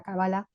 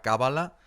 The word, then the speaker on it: cábala: la la palabra bueno bueno en hebreo es cábala Si hablas con alguien en hebreo te dirá cábala y Si hablas con alguien en castellano de España te dirá cábala y Si hablas con